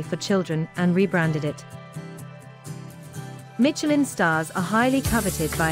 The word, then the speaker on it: Michelin: If you want to get fancy, pronounce it in the original French, Michelin.